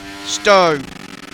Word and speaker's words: Stowe: Stowe. S-T-O-W-E. The E is silent.